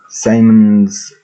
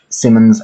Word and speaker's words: Siemens: So, what we got here is Siemens Eddy Swan, right there. because I'm gonna check something on that. I'm pausing the video. Right, I can actually say it properly. It's Simmons Eddie Swan, British manufacturer, and it's